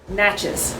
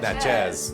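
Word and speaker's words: Natchez: Let me tell you, you got to pronounce it like Mississippians pronounce it. Okay. Nachas. Nachas. You're saying Nach. Nachz.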